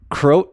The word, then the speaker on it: Croat: the sauce jesse croat is two syllables croat oh that makes more sense